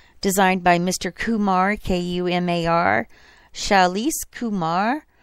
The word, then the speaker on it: Shailesh: Kumar, K-U-M-A-R, Shailesh Kumar. Shailesh is spelled S-H-A-I-L-E-S-H, Kumar.